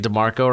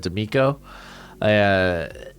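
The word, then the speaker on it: DeMeco: People gave me a lot of crap for mispronouncing, not even mispronouncing, but like I kept saying DeMarco Ryans instead of D'Amico.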